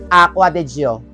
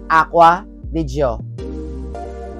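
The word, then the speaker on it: Acqua di Giò: But, surprisingly, the correct pronunciation is Acqua di Gio. Repeat after me, Acqua di Gio.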